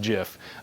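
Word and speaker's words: GIF: we still believe this was a jiff it's pronounced jiff by the way I met the creator of the file format and it's pronounced jiff no it didn't work but it's a money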